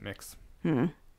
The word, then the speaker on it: Mx: Miz and mix or I don't know if you pronounce it mix but MX which is supposed to be the gender neutral one I think you pronounce it mix never heard of that